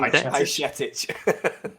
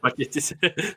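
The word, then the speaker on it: Bajčetić: It's Stefan Bajcetic. Bajcetic.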